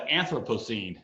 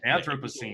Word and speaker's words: Anthropocene: What does entering the Anthropocene mean, if I'm pronouncing that correctly? It's called the Anthropocene. Anthropocene.